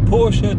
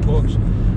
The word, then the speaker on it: Porsche: driven a Porsche and I know I'm pronouncing it wrong and everyone's going to go say it's Porsche Justin not Porche but I've never actually